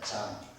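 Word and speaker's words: Jean: 프랑스 발음으로 요한이 장입니다. 장.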